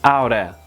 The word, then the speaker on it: ought to: Sometimes ought to is not common in conversation and spoken English. It's oughta, oughta, oughta.